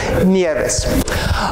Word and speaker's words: Nieves: Nuestra Señora de las Nieves. Would you please repeat that last word, snows? Nieves. Nieves. Am I pronouncing that right?